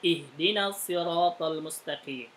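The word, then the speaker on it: اهدنا: 1 Alif 2h3 Dal karena dalnya ini kasroh maka hamzahnya dibaca kasroh maka bunyinya ihdinal Usmani itu tidak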